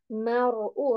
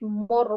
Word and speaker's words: المرء: Mar'u. Ra sakin heavy again. Don't make it more. More is wrong. Mar'u. Only ra sakin should be heavier.